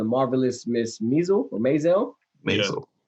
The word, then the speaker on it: Maisel: I might be saying his name wrong, but he's currently in the show The Marvelous Miss Maisel or Maisel. Maisel.